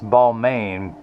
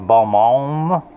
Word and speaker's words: Balmain: It's a French company that Americans would pronounce Balmain, but I think it's pronounced Balmain.